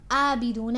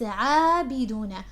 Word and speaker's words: عابدون: It's not عابدون, it's عابدون.